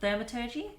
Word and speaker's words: thaumaturgy: that had the capabilities of I can never pronounce this word, but thaumaturgy.